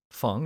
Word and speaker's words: Fung: for anyone listening uh fung is actually the correct pronunciation just want to throw it out there it's like uh feng shui for example that was the same